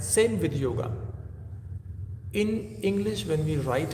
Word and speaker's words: yoga: In Hindi or Sanskrit if you chant it if you sorry pronounce it it will be yoga. A little a sound at the end. Yoga. Can you hear this? Yoga. This is the right pronunciation of yoga.